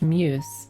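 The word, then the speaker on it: μ's: Is that Is that a U? Or is this like did the question get butchered? It's pronounced muse.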